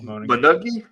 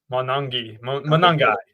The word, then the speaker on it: Monangai: He had Kyle Monangi. Monangai. God, man, that's terrible pronunciation by me.